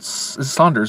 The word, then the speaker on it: Sanders: This movie is directed by Rupert Saunders, right? I can't pronounce. I think it's just Sanders.